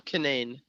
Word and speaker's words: Cunane: And I'm pronunciating your last name correctly, right? Yeah, Cunane.